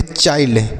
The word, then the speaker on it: child: उसके बाद CHILD तो यहाँ पर आई के बाद LD है तो यह हो गया आई, तो इसे हम पढ़ेंगे चाइल्ड।